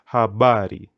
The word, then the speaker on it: habari: first part but but if a word has more than two syllables like this word habari put the emphasis nearly to the second or the second to the last syllable so it becomes habari but for example the